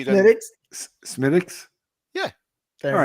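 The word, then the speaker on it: Smithwick's: Thank you for correcting the pronunciation of If Go I on. corrected it correctly, then Smittix.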